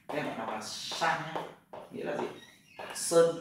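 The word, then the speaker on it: 山: Đây bạn đọc là san nhé.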